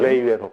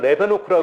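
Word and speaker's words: Leeuwenhoek: 레이 우엔훅. 이름이 좀 어렵네요, 그분이. 레이 우엔훅. 옛날에는 레베노크라고 네, 맞아요. 했는데요. 저도 그렇게 이게 기억해요. 또 바뀌었죠? 레베노크라고 했는데 요즘에는 최대한 그 나라 발음에 맞게.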